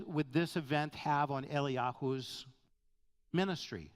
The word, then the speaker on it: Eliyahu: Number 5, what effect would this event have on Eliyahu's ministry? Eliyahu being the Hebrew pronunciation of Elijah.